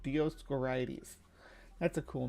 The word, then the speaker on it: Dioscorides: Dioscorides, I think is how it's said. Dioscorides.